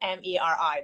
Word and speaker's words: Meri: Yes, it's Meri. It's Meri. It was just a mistake in translation from Armenian to English when it was spelled M-E-R-I, but you pronounce it Meri just regularly. It's an Armenian name originally.